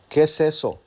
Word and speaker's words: queso: Hispanics speak Spanish so fast that instead of sounding KSO, it sounds queso.